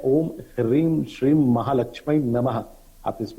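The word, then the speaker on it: ह्रीं: माता महालक्ष्मी का जो बीज मंत्र है वो हीरीम शब्द है। हा में रा और उसमें एक रेचक लगा होता है, उसको हम उच्चारण में बोलते हैं ह्रीम, यानी आप उनके बीज मंत्र का जाप कर सकते हैं।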